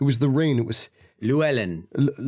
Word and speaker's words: Luellen: the rain it was Luellen Luellen Luellen that's that's probably the easiest way for you to pronounce it like Louise Ellen okay Lou Ellen Lou Ellen um and